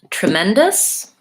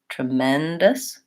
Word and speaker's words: tremendous: and tremendous and sour tremendous has second syllable stress so short on these two and reduced vowels so we have an E in the first the e says in like trip and then we have vowel ah like Red Tent Men dust us then we have a schwa for the last syllable so lengthen tremendous tremendous